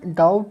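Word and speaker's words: doubt: तो आपको यहाँ पे याद रख सकते हैं कि डाउट में बी का उच्चारण नहीं होता है, उसी प्रकार से होनेस्ट में एच का उच्चारण नहीं होता।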